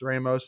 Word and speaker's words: Ramos: So they wrestled, obviously it's an interconference match, and they wrestled in conference, and Ramos, had like, Ramos. He actually pronounces it Ramos.